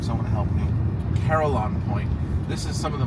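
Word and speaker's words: Carillon Point: I always mess up how to pronounce I called it Carolina Point, but it's actually Caroline Point. Oh God, I'm going to butcher that name. Someone help me. Caroline Point.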